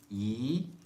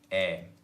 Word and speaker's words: 의: the previous session, 의 is pronounced in 3 different ways. 의, 이, 에.